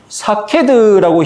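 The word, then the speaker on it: שָׁקֵד: 히브리어로 살구나무라는 말과 지킨다는 말의 음이 비슷하다. 그래서 살구나무는 사케드라고 히브리어로 발음하고 지키다는 소케드라고 말하거든요.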